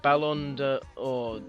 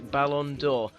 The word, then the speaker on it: Ballon d'Or: lad sorry about that terrible pronunciation there just had to go and look up how to pronounce it Lord bers rode to the Balon door which you will have